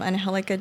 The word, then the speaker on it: Angelica: it's my full name andh helica and and it's just like Angelica just pronounced in Spanish and you got website